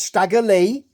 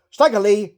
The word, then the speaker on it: Stagger Lee: like junk young dog stagger Le rhymes with JY now we see highlights